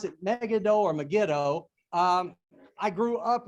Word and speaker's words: Megiddo: miles you may notice i may pronounce it mega doe or megiddo i grew up with negan though but really correct pronunciation is megiddo um again megiddo's about 15 miles east of